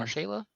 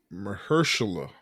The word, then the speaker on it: Mahershala: Marshala? Jeez, you got to get it right. Mahershala. Mahershala.